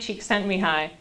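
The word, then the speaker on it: Csikszentmihalyi: is now I like looked up how to pronounce his name though it's uh mihai sheik sent me hi that's how you say that name so he's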